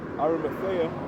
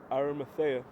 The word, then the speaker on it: Arimathea: There's brothers that will think about Joseph of Arimathea. Shout out Brother Henry, because he taught me how to pronounce that. Joseph of I just said it. I literally said it. Joseph of Arimathea, right?